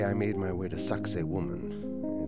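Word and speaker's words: Sacsayhuamán: the second day I made my way to sakoman it's spelled nothing like it sounds it's the ruins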